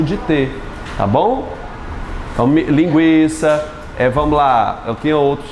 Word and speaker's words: linguiça: Antes se colocavam o trema sobre esse U para dizer que aquele U era pronunciado. Por exemplo, na palavra linguiça, antes tinha um trema sobre o U para que as pessoas não errassem, dissesse linguiça, não é isso? E se pronunciasse o linguiça, para assinalar que o GU não é dígrafo.